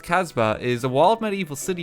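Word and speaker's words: kasbah: arena in ancient caritage me neither a casbah pronounced casbah is a wild medieval city found in north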